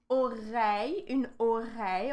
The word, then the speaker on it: oreille: So here, again, we have two sounds here with the letter I, okay? It's between the syllable re, like ore, and then it's with the ye sound, So we have oreille.